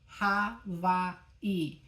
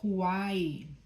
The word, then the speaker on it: Hawaii: Today I want to talk to you about one more hooponopono tool, Havai. And we say that in English as Hawaii, right? So the name Hawaii is pronounced Havai in Hawaiian.